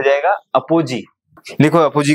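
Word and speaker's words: apogee: और ये हो जाएगा अपोजी। लिखो अपोजी का स्पेलिंग, APO अपो GEE, पेरिजी अपोजी।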